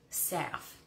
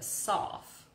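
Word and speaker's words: salve: Saf. Is it a saf or is it a sauf? Or is it, so S-A-L-V-E, because I make a lot of them.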